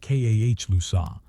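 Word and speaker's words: Calusa: The Kousa, pronounced Kah Lusa, lived along the estuaries and mangrove flats of Southwest Florida from the 10,000 islands north to Charlotte Harbor.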